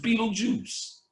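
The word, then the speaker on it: Betelgeuse: they spelled the star Beetle gist but it's pronounced Beetle Juice Beetle Juice is about they told you in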